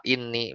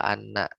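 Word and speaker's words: إني: Ya, jadi habis wa inni bukan wa anna tapi wa inni.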